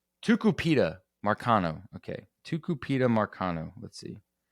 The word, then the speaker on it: Tucupita Marcano: But anyway, so let's talk about Tupika or how do you pronounce this man's name? Tucupita Marcano.